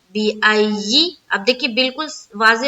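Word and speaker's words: بِأَيِّ: किस तरह से, देखिए बा जेर बी, हमजा या ज़बर आई, या जेर यी, बिअय्यि। अब देखिए बिल्कुल वाज़े हो गया, क्या है, बिअय्यि है, बिअय्यि, या जेर यी, बिअय्यि, ठीक है।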